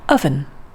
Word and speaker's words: oven: those english words where we spell it with the letter o and so you might think that we say it as oh oven but actually we say it as uh which is the sound in fun oven and english has